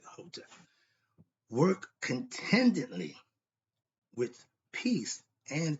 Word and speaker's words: Hotep: When I say Hotep, you spell H-E-T-E-P, or you can spell it H-O. The E and O is universal, so it's transferable. Some say the E, some with the O. I'll use the E. Still pronounce it Hotep.